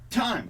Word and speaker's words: thyme: no one's saying it time time music that's how you say it yeah but it's spelled completely different from like minutes and hours time I'm not laughing at